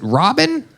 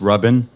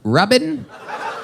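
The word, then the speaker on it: Rabin: Robin uh it's pronounced rubbin rubbin but it's spelled r a b i n so it's spelled Ren no the a makes the same sound as the first syllable in amazing so uh oh boy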